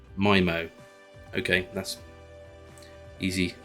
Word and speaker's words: Mimo: to download oh okay it's not memo memo is my moment mimo okay that's easy pronunciation